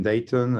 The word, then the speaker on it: Dayton: So Dayton, you don't hear the T. Yeah, like if it sounds really British, like Dayton.